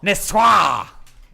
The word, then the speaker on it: Niçoise: It's Niçoise. Niçoise!